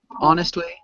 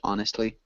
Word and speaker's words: honestly: it's like cheating also honestly we don't pronounce the h honestly okay um okay any